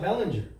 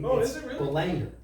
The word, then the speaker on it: Belanger: that like Ryan uh Belanger I've been saying his name wrong it's not Bellinger I've heard him pronounce his own name the Langer yeah he's gonna have